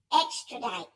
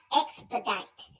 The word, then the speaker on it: extradite: And it's extradite, not expedite.